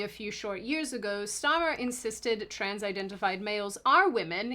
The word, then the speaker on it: Starmer: In the UK's case, when England's prime minister Kier Starmer, which I feel like I'm saying incorrectly, you're saying it right. Starmer, Kier Starmer, Starmer, Starmer, Starmer.